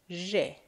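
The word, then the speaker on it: ژ: Now, if you put three dots, you will get J. Doesn't have any equivalent in English, but we use it in Farsi, J.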